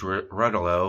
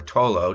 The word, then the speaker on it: Rotolo: on May 11th, 2008, Suze Rotolo, or Rotolo, depending on your pronunciation, this report threw me a loop because I've been calling her Rotolo my whole life, mostly because of neighbor girl Ann Rotolo.